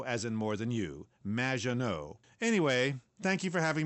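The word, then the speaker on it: Maggot: in the future there will be robots magot welcome to the show thanks Amy however you have mispronounced my name it's m which rhymes with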